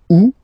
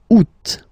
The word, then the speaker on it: Août: And then here, two options, because, well, two options are acceptable in French. The first one, you don't pronounce the final T. Ou. Ou. Ou. Second one, you pronounce it. Août.